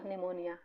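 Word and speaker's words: pneumonia: है ना एंड निमोनिया देखिए पीस साइलेंट इसको निमोनिया पढ़ेंगे ओके बच्चों निमोनिया ठीक है तो ये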